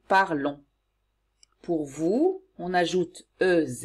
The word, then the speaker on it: parlons: Pour nous, on ajoute ONS et on prononce on. Nous parlons.